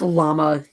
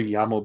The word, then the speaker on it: llama: It's pronounced llama in English, you fucker. It might be llama in Spanish, but if I hear Yamo be there one more time, I'm a Yamo burn this place to the ground.